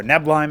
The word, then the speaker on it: Neblime: We've got a gateway coming here for Neblime, or Neblime as it's actually pronounced.